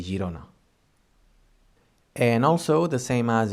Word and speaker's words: Girona: And if we have the G plus I or E, G més E, I, then it sounds G, gerent or Girona, like the Catalan city Girona.